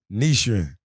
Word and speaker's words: Nichiren: All right, so I want to make sure I pronounce it right. Yeah. Nichiren Buddhism. Nichiren.